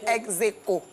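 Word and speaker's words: ex aequo: Donc, ça se lit Aeco. Enfin, ça s'écrit Aeco, mais ça se lit Execo.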